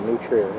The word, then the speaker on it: New Trier: I believe all of them went to New Trier. That's the correct pronunciation.